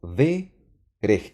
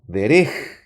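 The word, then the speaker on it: דֶּרֶךְ: Esta no es una vocal, es el acento de la palabra verej. Y por eso estoy pronunciando verej y no derej, sino verej.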